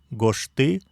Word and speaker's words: гошты: Отбрасываем суффикс инфинитива «ны», получаем долгую основу «гошты», ставим ударение на первый слог, получаем «гошты», «напиши».